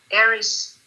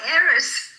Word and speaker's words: Eris: E-R-I-S, but the A is like an E-H.